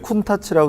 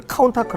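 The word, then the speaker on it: Countach: 내 자동차 하락의 시작이다 여기 쿤타 치라고 쓴게 어렸을 때는 이거를 쿤타 치라고 못 읽고 카운터 크라운 이었어요 4 영어식 발음으로는 다들 카운터 아크 라고 했었거든요 제가 프라모델 맨 먼저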